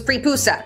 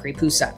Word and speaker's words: Praepusa: There's really not about prepusa. I hope I'm pronouncing that right. We don't really know much about them. Just the fact that they existed and their name sounds like papoosea.